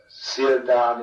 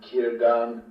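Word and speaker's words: Círdan: But in general, in my view, the only essential thing is to avoid outright errors, like Sauron instead of Sauron, Sildan instead of Kirdan, or wrong stressing, like Landrovar for Landrovar, and so forth.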